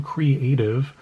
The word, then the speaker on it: Cre8tive: One is to Kingdom Creative, which is spelled CRE8TIVE.